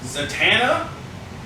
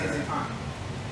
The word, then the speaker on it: Zatanna: Zatanna? I say Zaytan. You say it wrong. Well, because it's Anna at the end, so Zaytan.